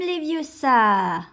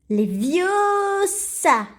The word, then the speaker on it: Leviosa: Wingardium Leviosa. Non, stop. Tu vas finir par crever un œil à quelqu'un. Et puis, d'ailleurs, tu ne sais même pas le prononcer. C'est Leviosa et pas Leviosa.